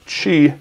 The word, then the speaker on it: Qi: 920 that has this key inductive charging built in or I pronounced it wrong again how about that this Chi charging built-in this is